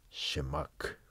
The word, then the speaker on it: Shema: partida en el famoso shema es una palabra hebrea que significa escucha Aunque sí está técnicamente correcto les digo que la palabra se pronuncia shemac Cuando alguien habla del